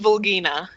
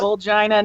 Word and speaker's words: Vulgina: Hang on, I'm going to be incredibly immature here for a minute, because, Mandibuzz's name in Japanese is Vulgina. I'm pretty sure it's pronounced Volgina. It's pronounced Volgina now.